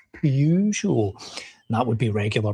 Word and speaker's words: Peugeot: It's It's Peugeot." And I'm like, "It's spelled p e u. There's no There's no r in it. Peugeot without an r in it. It's Peugeot."